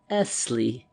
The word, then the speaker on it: Essley: He pronounced the word, lingering upon the double S till it sounded like a long hiss. "Essley," he repeated as though he derived some satisfaction from the repetition.